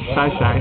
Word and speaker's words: Xai-Xai: Now I'm in Xai-Xai, or as it's actually pronounced, Xai-Xai.